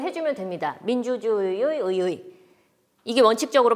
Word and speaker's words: 의: 아까 의지, 의사, 의도 발음했을 때 살펴보았듯이 단어 첫머리에 오는 의자는 의, 이중모음으로 발음하면 됩니다.